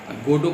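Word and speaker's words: Godot: ही बैठे हुए हैं गोडो के इंतज़ार में, कुछ नाट्य समीक्षक तो गोडोट भी बोलते हैं, तो उनको बताना पड़ता है टी जो है साइलेंट है, गोडो है।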